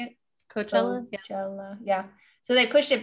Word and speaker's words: Coachella: about coachella is that how you say it coachella yeah so they pushed it back another year